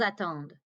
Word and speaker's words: attendent: Ils attendent. Elles attendent. And again, don't pronounce that ENT.